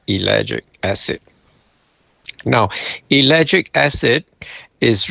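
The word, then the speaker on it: ellagic: It's spelled E L L A G I C. Elic acid.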